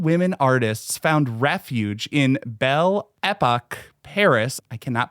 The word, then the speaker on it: Belle Époque: Club, where American women artists found refuge in Belle Époque Paris. I cannot pronounce anything in French, but I'm sure Jennifer can.